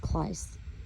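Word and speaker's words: κλείς: So in Strong's 2807, Cleus is key, or it's pronounced Kleis, opener to an entrance, instrument used to open and close a door or gate, aka our mouth.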